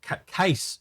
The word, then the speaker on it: Casse: So it's Case Aerospace, is it? Not Jace. No, it's Case. Okay, Case. I got it wrong. My bad. It's spelled even weirder because it's CASSE, so it's Cassie. But it's pronounced Case.